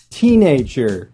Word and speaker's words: teenager: Teenager. Once again, the word stress comes on teen.